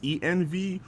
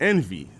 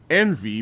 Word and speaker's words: ENV: about them I was like is the name pronounced EnV or is it pronounced Envy so I just got school tonight that is in fact Envy but she said there was a story behind